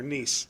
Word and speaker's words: Nice: It's Mayor Nice, or it's actually Mayor Nice, but it's spelled nice.